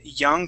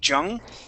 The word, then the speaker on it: young: is y okay but you had pronounced it with a Spanish y saying Jung okay uh the way